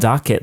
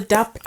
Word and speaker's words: dop kit: I always call it doc kit. D-O-C. Oh, I think it's DOP. What's the correct word? It's called a DOP kit. I've been saying it wrong for 38 years.